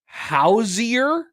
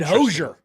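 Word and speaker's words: Hozier: so according to Google when you type in Hosier pronunciation it is hoier no way no Hosier Hosier Hosier Hosier I always said hoser I've always said hoser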